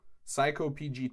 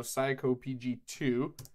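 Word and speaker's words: psycopg: need a pip install psycho PG - I believe that's how it's pronounced and this is a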